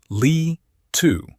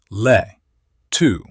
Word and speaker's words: Le II: Le II Read it phonetically and it splits into two syllables. Le II Le II Now, do the thing